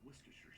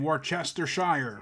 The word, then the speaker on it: Worcestershire: to say it correctly, a quarter cup of Worcestershire sauce. Did I do it right? Worcestershire? You mean Worcestershire?